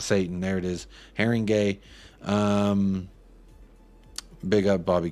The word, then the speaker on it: Haringey: Haringey is pronounced Haringey.